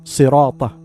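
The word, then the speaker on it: صِرَاطَ: Correction, ensure correct pronunciation of sirat, sirata, as sad, should be pronounced with a heavy sound.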